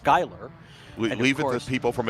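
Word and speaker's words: Schuyler: Uh, and it's spelled with the SC, but it's pronounced Skyler.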